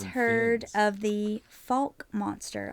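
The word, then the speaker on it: Fouke: of the Falk monster? I think it's it might be pronounced Fook monster.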